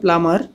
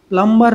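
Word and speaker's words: plumber: প্লাম্বার নয়, প্লামার। মনে রাখবে, শব্দের শেষে যদি এমবি থাকে তাহলে অনেক সময় বি সাইলেন্ট হয়ে যায়, যেমন প্লামার, থাম, ল্যাম্প।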